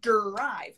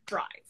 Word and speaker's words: drive: and do you know so drive is only one beat drive drive ah drive yes so it's not derived it's drive ah okay long beach